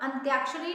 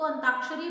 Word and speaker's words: अंत्याक्षरी: ठीक है, वही बात अंत्याक्षरी ना बोल करके बच्चे उसको अंताक्षरी बोलते हैं, तो आप एक बार